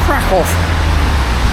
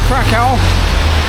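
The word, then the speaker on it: Kraków: I am going to the city of Crack off. I know it's got crack and people still say crackow, but as my Polish friends will say, no, no, no. It's pronounced crack. So, I'm heading to Crackov for five nights.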